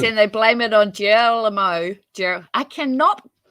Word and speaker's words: Guillermo: Oh, Guillermo. As in, it's Guillermo? Yeah, it's Guillermo. Italian. No, Spanish, Latin American.